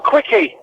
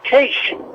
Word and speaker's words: quiche: and she asked for a quickie. I said it's pronounced quiche.